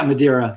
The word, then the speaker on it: Madeira: ukulele really quickly you talk about is it madera is that how you say it yeah madeira right um madeira you talk about a distinction